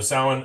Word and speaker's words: Samhain: So sin, s a m h a i n is how you spell it. Um, obviously not pronounced like that, but it's just Halloween.